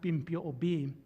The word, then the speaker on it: Bimpio'obi: And in my language, it's pronounced Bimpio'obi.